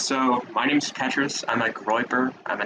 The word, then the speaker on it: Petrus: Next is Petrus, if I'm pronouncing that right. Yeah, it's Petrus. So my name's Petrus.